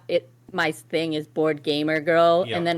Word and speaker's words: boardgaymergirl: it my thing is board gamer girl and then when you say out loud you missed the gay like gay yeah g a y m e r yes spell it yep